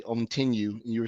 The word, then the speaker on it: Ontinue: So, I'm from Ontinue, former CEO and founder of Tiberium, but Ontinue is how you say that name.